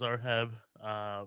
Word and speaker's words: Zoheb: always just like, look, it's completely phonetic. It's Zoheb. There's nothing, there's nothing crazy in there. And there's nothing silent.